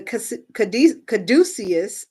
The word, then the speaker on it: caduceus: The caduceus, I'm saying it right, Caduceus, caduceus, which Hermes used as a staff, is often considered a symbol of health.